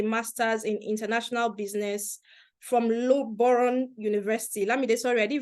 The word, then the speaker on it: Loughborough: Let's Loboro. No, you have to pronounce that thing again. Loboro. What's that? Lambs, I'm It's sorry. Loughborough.